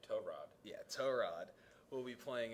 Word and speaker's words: Tyrod: Pronounce it right. Tyrod.